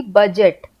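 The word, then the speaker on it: budget: यू जी ई टी बजट। लेकिन हमने ऐसे नहीं लिखना है। हमने लिखना है बी यू डी जी ई टी। तो यहां पर डी जो है वो साइलेंट हो गया।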